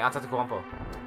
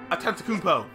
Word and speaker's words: Antetokounmpo: Antetokounmpo. Antetokounmpo.